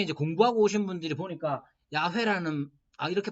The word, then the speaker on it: 야훼: 그래서 이제 처음 들어올 때 번역하시던 분들이 여호와라는 말로 번역을 했는데 나중에 이제 공부하고 오신 분들이 보니까 야훼라는 이렇게 발음하는 거야 라고 했는데 그분들이 좀 신학이 좀 그래서 보수적인 교단에 있는 분들은 야훼라는 말 안 쓰고 여호와라는 말을 써요.